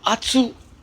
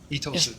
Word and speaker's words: Itosu: जो Anku Atsu अक्सर लोग कहते हैं. Itosu. Yes, it's not Anku Atsu.